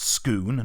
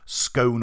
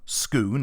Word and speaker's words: Scone: gone to Scoon and it is pronounced Scoon not scone or scone Scoon it's an actual place